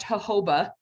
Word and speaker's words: jojoba: So I think it's pronounced jojoba, but looks like J's, right? Looks like jojoba if you looked at the spelling of it, right?